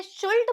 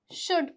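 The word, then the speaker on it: should: हो गया जैसे कि एओ यू एल डी इसे शुल्ड पढ़ते हैं क्या नहीं इसे क्या पढ़ते हैं शुड पढ़ते हैं ठीक है तो देखिए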